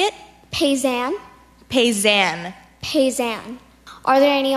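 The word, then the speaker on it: paysan: style can have the word one more time pays an can you say it pays am pays an pays am are there any alternate pronunciations I just have pays an can have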